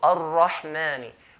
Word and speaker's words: Ar-Rahman: Mim is from the light letter, so we're not going to say Bismillahir Rahmani, not mani. If I say ma, I'll be making it as heavy letter. Ar-Rahman, ma, not ma.